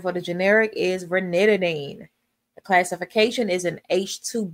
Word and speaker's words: ranitidine: Zantac, the pronunciation for the generic is ranitidine.